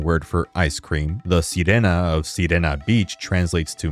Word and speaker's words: sirena: both Italian and Spanish, although I also really like how it still makes sense even when pronounced as Serena, being phonetically similar to the word serene.